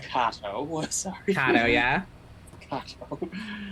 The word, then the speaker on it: Kato: Oh, it's you pronounced Kato. Sorry. Kato, yeah, Kato. it's fancy. I kept pronouncing it like the Green Hornet character.